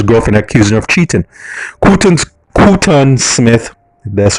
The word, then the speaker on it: Quton: Quton Smith, that's how you pronounce it, of Red Hassel Road, Port Antonio,